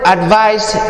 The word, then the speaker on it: advice: And the word advise is a noun and has a s sound at the end, and it means the opinion what you think someone should do.